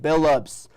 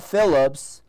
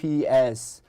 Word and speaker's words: Billups: Billups, not Phillips, Billups.